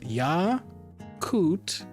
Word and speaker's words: Yakut: I found it where it's yakoot for the language. Yakutsk for the city.